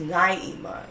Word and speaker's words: Naima: so I really just said no it's pronounced Naima you know you never